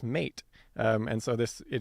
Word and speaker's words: meat: And so for a couple examples here uh in middle English the word bite would be pronounced beat and the word meat would be pronounced mate.